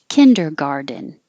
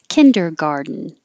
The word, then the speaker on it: kindergarten: the vast majority and kindergarten you can say two ways kindergarten with a din at the end or kindergarten with no d you're just doing garden making an inn garden kindergarten or kindergarten this bedroom has a